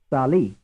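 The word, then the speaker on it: salì: How many syllables does the word contain? Sali. 2. The 2. answer is 2. Frame 25. Which syllable is stressed, the first or the second? Sali. The The answer second. is the second.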